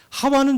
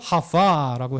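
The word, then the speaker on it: חוה: 하와는 좀 다릅니다. 히브리어는 하와, 그리고 바브가 W도 이렇게 보니까 이 독일어권이나 영어권이 약간 달라서 그래요. 그래서 그걸 V로 이렇게 발음돼요. 그래서 하와로 하기도 하고 하바라고 하기도 해요.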